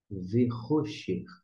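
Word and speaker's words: וְחֹשֶׁךְ: E aqui é o que a gente chama, é o raf, sofite, o final, que vai ter um som como de um CH alemão. E você vai pronunciar Verrocher.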